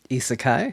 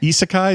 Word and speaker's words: Isekai: Isseekai. Isekai.